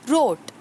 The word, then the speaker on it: rote: How do we pronounce this word? It's rote.